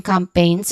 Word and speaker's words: campaign: Pronunciation-wise, we start with come, which is the first syllable, which has a short, quick, and stressed vowel sound, or the schwa sound, the upside down E here. And then starts, and we do the second syllable, pain. So there's a schwa sound, and not the schwa sound, but a diphthong sound here, A. So A, pain, okay?